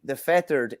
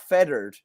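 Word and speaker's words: Fethard: But what way are you pronouncing fettered? Fettered. Fettered. See, yeah, but you're thinking of the fettered in Tipperary, which is feathered.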